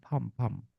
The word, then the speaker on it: palm: And please remember, my life is in the palm of your hands. Palm. Pam. Enggak ada L-nya.